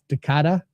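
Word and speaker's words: Decadas: The S is silent, so it's Decada. Okay, Decada.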